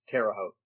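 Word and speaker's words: Terre Haute: Terraote.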